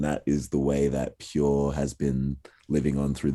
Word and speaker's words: PUR: Yeah, Pure. Pure? Yeah, P-U-R. Yeah, it is spelled like Per.